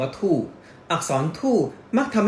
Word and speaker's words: 兔: นี้ เป็น ปี กระต่าย กระต่าย ใน ภาษา จีน ออก เสียง ว่า ธูป อักษร ธูป มัก ทำ